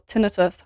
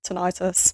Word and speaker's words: tinnitus: Tinnitus is another one, or tinnitus, however you pronounce it. Brits say tinnitus. I think Americans might say tinnitus.